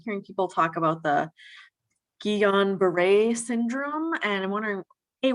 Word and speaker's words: Guillain-Barré: And so it would in French it's like pronounced guillain-barré or something like that. Okay. But in American it's guillain-barré.